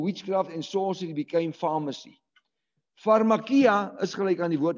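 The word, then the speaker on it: φαρμακεία: It's pronounced as pharmakia.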